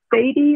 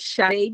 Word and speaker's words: Shade: Is it Sadie, or how do you say it? Yes, good afternoon, everyone. It is Shade.